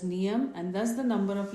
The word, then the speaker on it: Nayam: As a matter of fact, Nayam is pronounced as Niyam and thus the number of letters become 24.